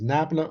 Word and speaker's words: nabla: as eva nabla or it's written as it's pronounced either as nabla or is why nabla because nabla is an